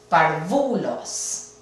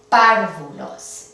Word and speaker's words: párvulos: Ahora, debería de caer el acento en la penúltima, parvulos. No son parvulos. Entonces, sabemos que va a requerir una tilde. Parvulos, tampoco. Párvulos. Esta es la sílaba tónica, requiere una tilde en la A.